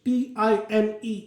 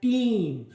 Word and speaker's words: time: So in the Old English, T-I-M-E, it was pronounced like team, while now it has changed into diphthong I. That is why it is now pronounced as time.